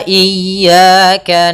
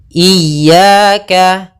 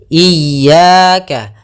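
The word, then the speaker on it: إِيَّاكَ: Ada 2 kesalahan yang sering terjadi dalam pelafalan iyyaka. Yang pertama memanjangkan i. Memanjangkan i. Apabila dipanjangkan huruf i-nya banyak. Contoh iyyaka, salah karena dia memanjangkan. Yang kedua adalah menahan iyyaka. Nah, itu salah juga.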